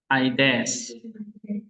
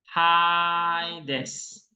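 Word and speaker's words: ᾅδης: Aides. Salah, ini ada rough atau smooth nggak? Rough atau smooth ini? Ada roughnya kan? Maka bacanya apa? Haides.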